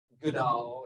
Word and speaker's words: GDAL: gdal so I think we'll say doodle some people say good owl or you know there's all these different ways to pronounce it but gdal is